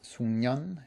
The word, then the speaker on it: 숙련: Just a quick note on the pronunciation of 숙련. It sounds like 숙련 in spite of the way it's spelt.